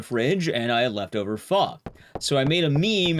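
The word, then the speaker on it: phở: know what pho is, it's spelled P-H-O. It looks like pho, but it's pronounced pho.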